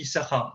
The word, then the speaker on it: Issachar: Pourquoi on lit que Issachar et pas Issachar? Je vous pose la question parce que tout le monde, quand ce nom il apparaît pour la première fois dans la Torah, on dit ah, vous avez mal lu, monsieur, t'as propos types qui n'ont pas l'habitude. Et pourtant, on lit Issachar, on enlève un shin.